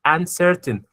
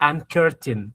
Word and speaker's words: uncertain: C E C Y the C is always going to be pronounced like the letter S. Notice here in this word uncertain you have C E. That's why you didn't say an curtain.